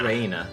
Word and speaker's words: Rena: Rina, not Rina. Reina. Reina. Reina, yeah. Reina. Reina, because it's Japanese and you pronounce each R-E-I-N-A.